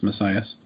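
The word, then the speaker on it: Masias: His last name is spelled M-A-S-I-A-S. I think it's pronounced Messias.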